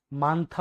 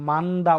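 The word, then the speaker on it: 많다: মানথা অর্থ কি বেশি বা অনেক, মানথা অর্থ কি বেশি বা অনেক। এটা কিন্তু আপনার মান্দা উচ্চারণ হবে না, এটা কিন্তু মানথা হবে উচ্চারণ।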